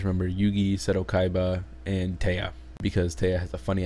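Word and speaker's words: Téa: I only know Taya because like her name is literally T, but they put an accent on the E, so it's Taya instead of T.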